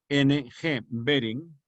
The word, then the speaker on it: Behring: De Behring, que ya dije cómo se escribe, B-H-R-I-N-G, Behring, Emil von Behring, que fue el descubridor de las antitoxinas.